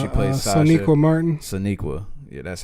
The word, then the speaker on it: Sonequa: Sonequa.